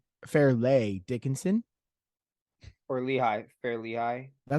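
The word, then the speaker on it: Fairleigh: do we say this is it barely no no it's fairly Fair lay Dickinson or Lehigh fairly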